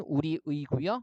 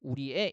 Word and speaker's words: 우리의: 조사의 같은 경우에 그죠 예를 들면 우리의 같은 경우는 원칙적인 발음은 우리 의고 그다음에 애로도 우리애 이렇게도 발음할 수 있는 거죠 보시면 되고요 아 음의